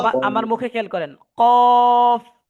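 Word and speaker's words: ق: ফা কফ আমরা অনেকে এভাবে অনেকে এভাবে বলতেছি কফ মুখ মিলিয়ে ফেলি মিলাবেন না কফ কফ আমার মুখে খেয়াল করেন কফ কফ মাশাল্লাহ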